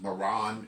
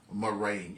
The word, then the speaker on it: murrain: It's pronounced two different ways. It's pronounced Maran and it's also pronounced murrain.